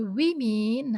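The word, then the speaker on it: women: Woman jadi we mean ini. Ini untuk mempermudah cara pengucapannya bukan jadi woman. Agak sulit diucapkan jadi diganti we mean biar beritme.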